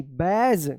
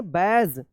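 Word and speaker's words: badge: बी ए डी जी ई बैज। क्या पढ़ेंगे? बैज।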